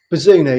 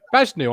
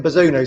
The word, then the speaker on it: Bazunu: Is that how you pronounce it? Bazunu, yeah. I signed him on FIFA. Bajnu on FM. That's what I called him. Bajnu. Well, Derek Ray on FIFA calls him Bazunu, so I'm going with Derek.